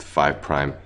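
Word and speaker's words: 5′: So again five apostrophe is is pronounced five prime and three apostrophe is pronounced three prime ends.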